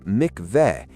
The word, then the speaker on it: mikvah: discovery of a 2,000-year-old mikvah directly beneath the Western Wall Plaza in Jerusalem. Now, a mikvah, pronounced mikvet, is a Jewish ritual purification bath.